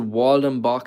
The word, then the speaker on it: Waldhambach: This is a Waldenbach specimen, like I would pronounce it if I was English. German Waldhambach.